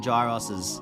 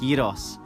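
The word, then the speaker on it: gyros: the Greek islands you live on dry roses actually they're pronounced Yadav's the Greek version of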